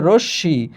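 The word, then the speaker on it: রশ্মি: এখানে লেখা আছে রশমি। কিন্তু উচ্চারণ হচ্ছে রসী।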